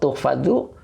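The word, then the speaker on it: تُحْفَظُ: Wa tuhfazu, nah ini wawunya atop, tuhfazu dibaca tuhfazu, dia fi'il mudhari majhul. Engkau akan dijaga. Nah, ini bacanya majhul ya.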